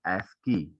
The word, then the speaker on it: ASCII: is your aci code the aci code is pronounced as ascii and is used for